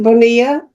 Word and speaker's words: Bonilla: Do you pronounce it Bonilla? Yes, that's right.